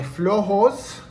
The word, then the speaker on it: flojos: Here are my flojos That's how it's pronounced in Old Mexico.